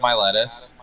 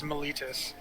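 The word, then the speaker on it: Meletis: I keep trying to pronounce it different ways, and I keep forgetting the way that Josue said to pronounce it. It's Miletus. Miletus. There we go. So, Miletus. There's no lettuce involved.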